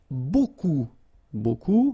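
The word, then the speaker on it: beaucoup: Remember you don't pronounce the final p. Okay. And then you've get this combination of vowels u a and you get the sound o. So technically it's b.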